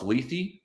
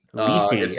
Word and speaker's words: Lethe: With me this week is writer and Twitter poster Max Lethe. Is it Lethe? Lethe? Actually, as far as I can tell, it's Lethe. Lethe.